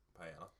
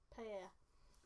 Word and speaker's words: paella: You pronounce the L's as a A. Paella. Paella.